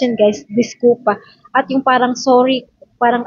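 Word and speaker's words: desculpa: Ginada disculp pero discpa 'yan pagka-pronounce niyan guys. Discupa at 'yung parang sorry parang I'm very sorry is sinoy so dito naman tayo sa concensa.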